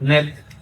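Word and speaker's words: nb: It is pronounced nib, but when it starts, if you start with it, it means Lord, like nib Tawi means the Lord of the two lambs.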